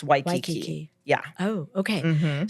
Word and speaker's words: Waikiki: But Waikiki is with the W sound. It's not Waikiki, it's Waikiki.